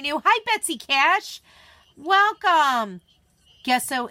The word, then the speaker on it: gesso: Gesso is the J sound.